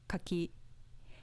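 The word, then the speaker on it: 柿: fence with an accent on the second mora kaki meaning persimmon with no pitch accent compare kaki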